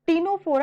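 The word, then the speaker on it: Ctenophora: तो ये सिलेंट्रेटा को ही हम निडेरिया भी कहते हैं, इसमें सी हमारा साइलेंट होता है, और ऐसी टीनोफोरा, इसमें भी हमारा सी क्या होता है? साइलेंट होता है।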